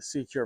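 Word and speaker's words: SeaCure: So he outfitted it with a Secure mouthpiece. It is spelled S-E-A, Cure, C-U-R-E.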